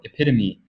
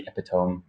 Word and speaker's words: epitome: Я, например, буквально недавно узнал, ну, несколько лет назад узнал, что, оказывается, слово epitome произносится именно так, а не epitome.